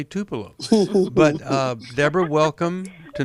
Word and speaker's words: Tupelo: called and how about we talk with Deborah Tupelo Mississippi now I might have gone to Deborah just because I wanted to say Tupelo but uh Deborah welcome to New Life live